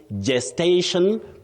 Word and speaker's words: gestation: So you say gesture and you also say gestation. Period. Gestation, not guest.